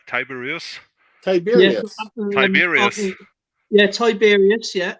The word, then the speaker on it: Tiberius: good guess T how do you say t tiberious tiberious tiberious yeah tiberious yeah tiberious and Vespasian so now you got a guess AEL so you got Tiberius that's correct said this two minutes ago you